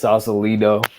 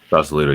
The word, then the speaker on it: Sausalito: It's Sausalito. Sausalito, yeah.